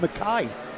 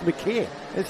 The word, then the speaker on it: McKay: He beats him Mackay. It's McKay. Mackay's fine. It's not. He's told me yesterday it was McKay.